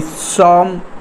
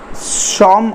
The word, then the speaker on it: Psalm: वैसे में दी सॉन्ग of life means होता है जीवन का भजन, जीवन से संबंधित जो धार्मिक गीत होता है उससे भी लिया जाएगा। सॉन्ग में पी साइलेंट होता है, सॉन्ग की स्पेलिंग PSALM